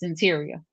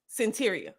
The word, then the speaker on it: Cyntiria: The pronunciation of the name is Cyntiria. Cyntiria.